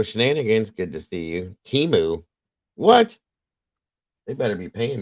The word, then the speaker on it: Temu: They pronounced it Temu. Tamu, yeah.